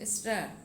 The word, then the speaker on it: stir: তারপরে the fruit syrup and water together, স্টার STIR, উচ্চারণটা কিন্তু স্টার।